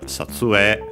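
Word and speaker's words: 撮影: First and foremost, we have Satsue. By the way, notice again, E. Most pronounce it now as long E. Some still A.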